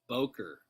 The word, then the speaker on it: Bowker: your last name because no one pronounces my last name right they don't mr bowker it's boker long yeah sure rick right